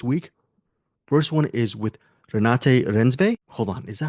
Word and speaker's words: Renate Reinsve: So the first interview is with Renate Reinsve, and I've actually know how to pronounce her name now, Renate Reinsve, and that's my bad.